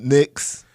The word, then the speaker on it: Knicks: The reason that the Knicks came up, because like you said, the K in it is silent.